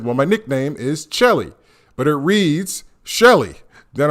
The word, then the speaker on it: Chelly: It's spelled C-H-E-L-L-Y. So we all know that as Shelly, but it's not Shelly. It's Chelly.